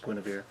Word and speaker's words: Guinevere: So, see, it says there, Dritz can spend 2 experience tokens to summon Guinevere. And yeah, look how that's spelled, but that's actually pronounced Guinevere.